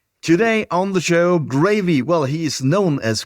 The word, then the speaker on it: Graeve: Graeve is my last name, and it's pronounced just like the sauce.